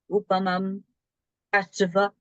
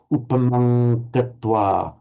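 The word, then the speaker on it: upamaṃ katvā: the M there, and you're pronouncing it as a bit of an M, like this ordinary English M. But what happens here with the Anuswara, it's followed by a P. And so it takes on, it's pronounced from the same position as the Gazu.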